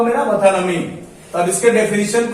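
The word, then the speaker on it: metonymy: इसका उच्चारण होता है मथानमी, मथानमी।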